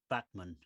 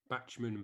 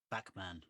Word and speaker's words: Bachman: say and read separately bachmann bachmann yeah right but i say it like batman i don't think i